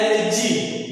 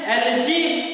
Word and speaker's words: algae: देखिए एक स्पेलिंग देखिए क्या होता है, ALGAE, इसको हम लोग पढ़ते हैं एलजी। इसको क्या पढ़ते हैं, एलजी।